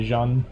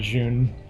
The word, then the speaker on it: Jun: Some people say it correctly and say Jean, and then you have some people saying June.